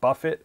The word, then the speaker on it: Buffett: I said, so now that I'm meeting the man, is it Buffett or Buffet? He said it's spelled like Jimmy Buffett, so it should be pronounced Buffett technically.